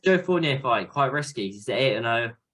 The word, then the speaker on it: Joe Fournier: a new one came out a man named Joe Fournier that's how you say his name I might